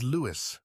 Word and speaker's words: Louis: It is Lewis, not Lewis.